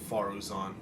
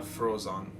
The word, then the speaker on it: Faruzan: By the way, that name is not really pronounced Faruzan. You're It's back. Pronounced, Everything all right? So again, these are names that come from where I'm from. Who are they? It's Friends of yours? pronounced Frozon, not Faruzan.